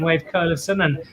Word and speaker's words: Wayve Kolevsohn: great friends of mine wave curlerson which is how they pronounce it in chile from element house and